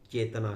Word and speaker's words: Qi: जैसा की, चाइनीज में उसको की कहते हैं, और स्पेलिंग है CHI, QI है उसका, और उसको ची कहते हैं।